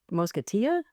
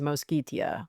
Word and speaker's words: Mosquitia: I have often mispronounced this as Mosketia and uh I believe it is Moskitia, but um please don't at me in the comments.